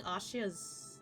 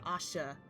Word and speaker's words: Asha: So was he just following Ashia's... Not Ashia, Asha. I forget that there's a difference.